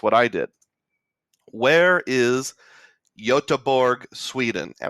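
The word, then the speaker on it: Göteborg: I did where is yotaburg Sweden and I think it's pronounced yotaborg but if I'm wrong I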